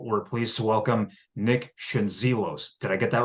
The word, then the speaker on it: Schendzielos: Like if you say the Z, well, it's like the D and the Z if you say like a J. So Okay, like Shingelis, or it's Schendzielos. probably like Shingelis or something.